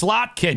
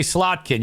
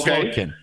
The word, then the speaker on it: Slotkin: Senate thanks pay for make sure you got to say it right it's it's slotkin you got to say slotkin you can't say slin at Leisa slot Alissa